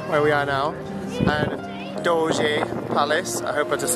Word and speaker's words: Doge: Okay, so I had to go on Google and make sure it's Doge Palace, so it's spelled D-O-G-E Palace, Doge.